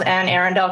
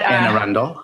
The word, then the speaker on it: Anne Arundel: one early example is ann arendell county and i forget forgive me if you live in maryland and that's not how you pronounce that county but anne arundel it is okay that was